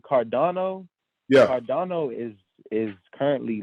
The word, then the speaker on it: Cardano: I think is that how you pronounce it? Cardano, yeah.